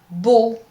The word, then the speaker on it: beau: O, E-A-U, and A-U. These 3 combinations are pronounced exactly the same way. O. For example, métro, beau, Paul.